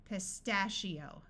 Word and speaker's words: pistachio: the muffled H sound pistachio I one followed by an O usually has a long e sound so we have EO pistachio that is a type